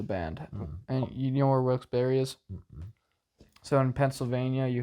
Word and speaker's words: Wilkes-Barre: just up here okay Wilkesboro isn't it Wilkes Barry I mean it's pronounced a few different ways from what I've been